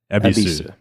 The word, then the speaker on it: Yebisu: But yeah, even when it's spelled that way with the old katakana or in English with the Y at the beginning, it's still pronounced Ebisu.